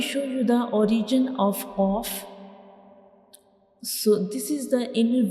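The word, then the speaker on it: قاف: This is the soft palate, and when we pronounce Qaf, the very back part of our tongue will touch the soft palate like Qaf.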